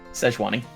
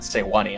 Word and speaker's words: Sejuani: Sejuani. Is she Chinese? Freljordian. So, Swedish? Szechuan is not a Swedish word. Sejuani. So it could also be pronounced Sewani, I guess.